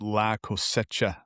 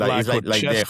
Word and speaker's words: La Cosecha: is pronounced La Cosecha. La Cosecha. Yeah. Not La Cosecha.